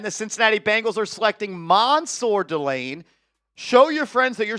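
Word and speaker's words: Mansoor Delane: His name is Mansour Delane, and this is a good pick. Yeah, spelled Mansour, pronounced Mansour.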